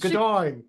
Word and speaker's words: Gaudoin: Oh, it's Gaudoin, really, but it Gaudoin. should be Gaudoin, but my husband's family never said it that way.